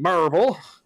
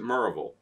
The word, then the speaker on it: Miraval: Merville and Marable as they want to call it the the restroom of the people there will specifically stay now you have to pronounce it Miraval it will be available to everyone and at 9 p.m.